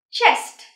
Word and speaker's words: chest: Chest. Đừng bỏ lỡ âm kết thúc nhé.